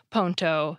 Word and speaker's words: ponto: Bridge, which has a silent D and E in English, changes completely and becomes ponto, spelled P-O-N-T-O.